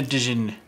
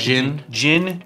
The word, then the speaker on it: Djinn: Summon a Dijin. I always get that. Djinn. The genie is silent.